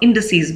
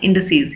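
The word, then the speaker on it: indices: भी होता है और इन डी सीरीज भी होता है तो ये मैंने सिर्फ आपके प्रोनाउंस इसका प्रनंसीएशन बताने के लिए ये लिखा है इन डी सीरीज ये इसका प्रनंसीएशन होगा नेक्स्ट है प्लूरल फॉर्म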